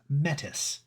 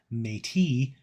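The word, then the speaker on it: Métis: wrong because uh I learned to call it mettis me I believe the actual pronunciation that where the apocalypse used was mate which is the actual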